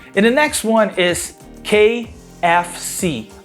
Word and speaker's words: KFC: the next one is kfc a lot of people here just translate those letters you want to say ka fec but actually we say that in english kfc and you know what kfc stands for kfc stands